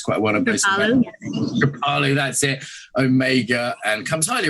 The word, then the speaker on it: Kripalu: Many teachers at many places like Kripalu, is that how it's pronounced? I know it's quite one of those. Kripalu, that's it.